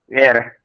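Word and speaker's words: heir: Air. Yes, it is air. As exactly as you pronounce A-I-R. H is silent. Air. So don't say he is a hair. No. He is an air.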